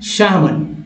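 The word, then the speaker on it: salmon: next देखिए अब इस वर्ड में दोस्तों एल को साइलेंट रखा गया है, मतलब मैं हमेशा बताऊँ एल साइलेंट है यानी उच्चारण यहाँ नहीं करना, क्या उच्चारण करना है शामन शामन शामन, जैसे हम लोग बोलते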